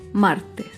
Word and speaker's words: martes: Por último, otro ejemplo de palabra grave sin tilde es la palabra martes. Martes se acentúa en la penúltima sílaba, pero no lleva tilde porque termina en S.